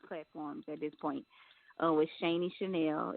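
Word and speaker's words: Shani Shanell: With Shaney Chanel. It's spelled SHANI.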